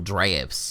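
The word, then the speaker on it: draught: pots couple drops couple drafts apparently that's that's it's not called a drought it's called a draft just spelled different at least that's what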